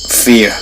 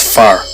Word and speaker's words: fir: So pronunciation of FIR is look like fear, but if you look at the dictionary, you can also look in the JF dictionary. So we should pronounce it as far, FIR, far, the little fir tree.